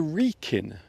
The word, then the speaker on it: Wrekin: This is the Wrekin. I will spell it for you.